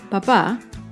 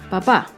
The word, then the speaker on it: papá: ortográfico en este ejemplo la primera palabra papá no tiene tilde y el acento está en la primera sílaba con la segunda palabra papá tiene tilde que indica que el acento está en la última sílaba papá por lo tanto